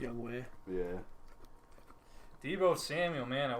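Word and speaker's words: Younghoe: you say his name it's young Wei isn't it yeah it's spelled young ho but it's a young way yeah Devo Samuel man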